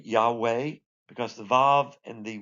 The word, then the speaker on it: Yahweh: foundation of the world now how do we pronounce this you can say Yahweh because the valve and the wall the W